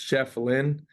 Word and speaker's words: Schieffelin: uh people really just didn't know how to pronounce my last name and it's just Chef Lynn and then uh just everyone just started calling